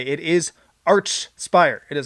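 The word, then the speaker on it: Archspire: the band say it it's arch spire with each sound not the k sound i say to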